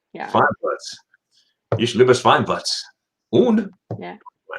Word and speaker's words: Schweinfurt: Schweinfurt. Yeah. Schweinfurt. Ich liebe Schweinfurt. Und Yeah. Bavaria. Which is interesting because the Germans know that the W is pronounced like a V, but a lot of